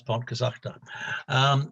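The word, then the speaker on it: Pontcysyllte: So we've learned to pronounce Pontcysachta.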